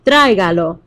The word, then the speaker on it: tráigalo: So if you say it out loud to yourself, tráigalo, you can maybe hear that it goes on the A. Otherwise, you can count the syllables. Tráigalo. We know that the emphasis needs to go on the third to last syllable.